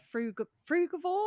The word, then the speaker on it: frugivore: Well, you've got such an amazing story, and we're going to be talking about what it means to be a frugivore. Am I pronouncing that right?